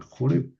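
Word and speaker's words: Horeb: en el monte Sinaí, también llamado monte Oreb, que hay que pronunciar Joreb.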